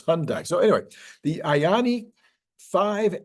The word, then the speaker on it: Hyundai: with the hyi Hyandai I pronounce that because that's how it looks it looks like hyundi but everybody says it's Hyundai so anyway the ayani